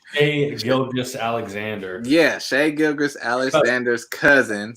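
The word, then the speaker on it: Shai Gilgeous-Alexander: Shea Gilgeous Alexander.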